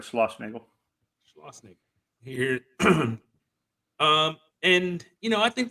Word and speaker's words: Schlossnagel: Yeah, you said it right, Schlossnagel.